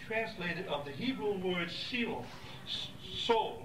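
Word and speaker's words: Sheol: Testament is usually translated of the Hebrew word SE so se s h e o l is the way you pronounce that se which is which is basically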